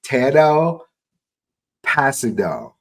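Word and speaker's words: Tanoh Kpassagnon: So I looked up I listened to the pronunciation. It's Tano Passino is the same defensive end there.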